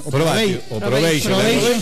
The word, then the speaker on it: probation: Probation. Se escribe probatio y se pronuncia probation.